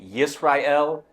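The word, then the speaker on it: ישראל: In Hebrew, it's pronounced Yisrael.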